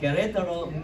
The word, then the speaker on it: Querétaro: We're currently supporting Pastor James and Barbarita Lee, who are campus missionaries in, let me pronounce it right, Querétaro, Mexico. Right, Pastor? See? All right, Querétaro, Mexico.